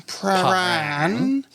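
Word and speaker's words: Prahran: We're going to pronounce it Pran in Pran.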